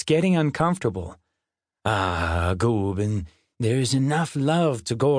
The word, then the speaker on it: Gooben: Gooben, rhymes with Reuben, is actually Swedish for old man, but kind of like you'd call a little kid big guy.